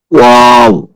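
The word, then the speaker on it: و: ওয়াও দুই ঠোঁট গোল হবে। ওয়াও দুই ঠোঁট গোল থেকে শুরু হবে, এসে শেষ হবে।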